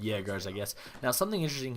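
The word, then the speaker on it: Jäger: By the way, they are pronounced jaggars. I believe uh it's they're aer German Dutch word and they make the J's like yes from what I've been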